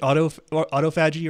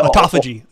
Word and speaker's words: autophagy: Autophagy or? Yeah, autophagy.